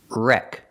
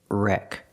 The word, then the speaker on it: wreck: Wreck. We see the W is silent. So, just pronounce the R. R R. Wreck.